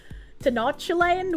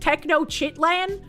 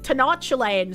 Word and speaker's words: Tenochtitlan: Well, I I mean I would usually call it techno land because like that's how I sound it out in my head. But I'm pretty sure it's not pronounced techno land. So um I want to say like Tenochtitlan sounds more like a real city name than techno land, you know?